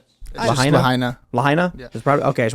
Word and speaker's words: Lahaina: town of, do you guys know how to pronounce this properly? I want to make sure, is it Lahaina? Lahaina.